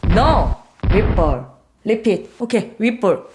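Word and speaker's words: Whipple: 휘플. No. 휘플. repeat. 오케이. 윗볼. 굿. 그래서 그분과 같이 일을 하면 영어 발음 신경 쓰고 그걸 이제 배우고 있습니다.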